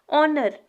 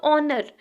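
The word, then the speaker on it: honour: हा से स्टार्ट होगा लेकिन जब आप इसको प्रोनाउंस करते हो जब आप इसको पढ़ने हो तो ओनर लगता है की ये ओ से स्टार्ट होगा ठीक है यहां पे हा साइलेंट राहत है और स्टार्ट होता है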